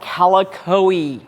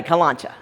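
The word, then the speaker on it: Kalanchoe: So this is called calicoe, or like my mama used to say, calancha. Okay, calicoe I think is the official Latin pronunciation, but growing up, my mom and all of her friends just called them calanchas.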